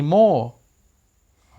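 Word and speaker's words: more: I can't wait any मोर. Alright, longer, मोर. आपने गौर किया, आर से पहले वॉवल है दोनों वर्ड्स में, इस वजह से आर की आवाज़ ऑलमोस्ट साइलेंट.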